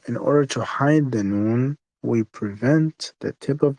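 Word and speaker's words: نون: So how is noon pronounced? Noon, so imagine this is the top of your tongue. Noon uses the tip of your tongue, the front tip of your tongue touches the gums of the top two front teeth.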